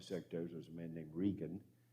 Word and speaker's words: Reagan: was a man named regan spelt like reagan but pronounced regan from texas and he